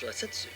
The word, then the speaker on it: Rasetsu: The Japanese pronounced Rakshasa as Rasetsu, leading to the name Razor Edge Rasetsu.